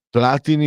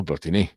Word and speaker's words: Platini: Platini o Platinì? Si diceva Platinì alla francese, anche se il cognome era italiano. Tra l'altro entrambi di origine piemontese. Cosa fai quella faccia, Francesco? Si diceva platinì nessuno diceva platini.